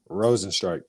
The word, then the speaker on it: Rozenstruik: Correct pronunciation, Rozenstruik.